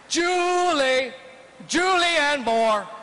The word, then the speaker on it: Julianne Moore: Incidentally, it is pronounced Julianne Moore.